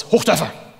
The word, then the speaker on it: Hochdörfer: that i'm from germany correctly pronounce my last name is hoof data which is music to my ears however there's no need